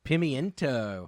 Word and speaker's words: pimiento: pimiento. Mm-hmm. Why is it spelled like that? But people say pimento. Because the word is pimento in Spanish. Pimiento. Pimento. But it's spelled like it's pimiento.